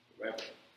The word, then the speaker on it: Weber: Então, pronunciar tem que dar um nó assim na língua, né? Weber.